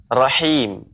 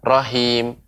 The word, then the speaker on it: rahim: latihan di rumah ya pengucapan rahim rahim bukan Rohim Rohim nah ini hal besar